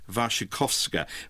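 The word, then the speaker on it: Wasikowska: history well may have I'm told it's pronounced vashikovska but uh Tim Burton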